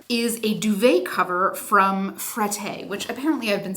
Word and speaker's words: Frette: me sounds a little bit like the way that Target sounds when I say Target, right? But who am I to fight the French? If you are unfamiliar with Frette, extremely high-end linen brand.